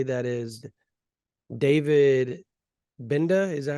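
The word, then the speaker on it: Gbenda: say that is David binda is that how you would say it is that how you pronounce it binda the G silent right yeah I think um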